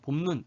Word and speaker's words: 봄눈: 원래 눈은 긴 소리야. 그런데 긴 소리는 첫 음절에서, 첫 번째 음절에서만 발음이 될 수 있기 때문에 봄 눈 할 때 눈은 지금 봄 뒤에 두 번째로 오잖아. 그래서 얘는 짧은 소리로 바뀌어 버린다는 거예요. 원래 눈이 긴 소리지만.